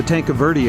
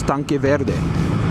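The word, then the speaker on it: Tanque Verde: tank of verie area now it's common for everyone in Tucson to call it tank of verie tank averie tank a verie but if you were to speak it in Spanish it's tank Verde which is green tank and I just I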